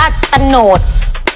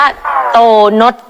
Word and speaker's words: โตนด: ได้ อ่าน แบบ นั้น เธอ อ่าน ผิด เ ไม่ ได้ อ่าน ว่า ตโนด อ้าว เรา อ่าน ว่า อะไร ครับ เ้า อ่าน ว่า โตนด พู กับ เพลอ มาก